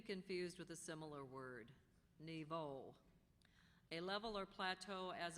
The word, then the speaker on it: niveau: This word could be confused with a similar word, niveau. A level or plateau as of existence or achievement, especially in a progression. Niveau.